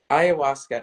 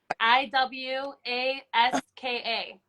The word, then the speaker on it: ayahuasca: ayahuasca. So it's hold on, let me, because I always spell it wrong. Where did I write it? I thought I wrote it down. Ayahuasca.